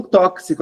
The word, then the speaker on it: tóxico: É o X com som de KS, tá? É esse X que faz Xi, é o tóxico, o táxi, o tórax. Esse X com som de KS é um som a mais.